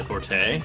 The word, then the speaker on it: forte: are not my forte, or fort as it's supposed to be said, I guess. What? Yeah, that's the proper way to say that if it's your specialty. I guess it is French, isn't it? It's fort, yeah.